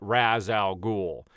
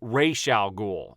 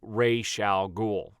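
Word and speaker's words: Ra's al Ghul: on to that but the proper way to say that character's name is Ray shall ghoul okay and whenever you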